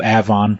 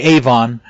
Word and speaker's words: Avon: It's the suburb called Avon, which most people would say Avon, but out here they pronounce it Avon, the same way most people would say Charlotte.